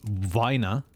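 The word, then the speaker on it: Weiner: i e e I it's always the second one in English that you should pronounce so the top one if you spell it that way is pronounced Vina Vina is someone who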